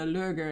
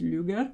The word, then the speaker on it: Lueger: name uh incorrectly so it's not lurger it's luger luger i i think it would be luger because it's the ue thing so i i defer